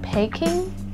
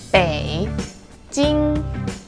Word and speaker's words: Beijing: well in Mandarin we don't really call it packing or Beijing the correct way to pronounce the city is Beijing Beijing turtle and first Bay Jing a very very famous scenic spot in Beijing